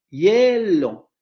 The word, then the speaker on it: hielo: Y si ustedes se dan cuenta y pronuncian la palabra hielo, se darán cuenta que el elemento más marcado es el segundo, hielo. El acento o la tonicidad, la marca de tonicidad recae en el segundo momento articulatorio del diptongo.